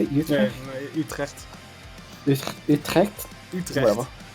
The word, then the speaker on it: Utrecht: And then I went to, Utrecht. Is that how you say it? Utrecht?